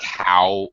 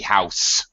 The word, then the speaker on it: house: you're pretty good, but be careful about pronouncing the ends of words, like how needs to be house. The ends House. the ends of words are very important in English, so try to be mindful of that.